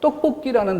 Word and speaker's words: 떡볶이: 그래서 떡볶이라는 단어에 발음이 어떻게 돼요? 떡뽀, 된 소리가 나고 끼, 이 쌍기역이 뒤로 넘어가서 소리가 나요. 그런데 적을 때는 떡볶이.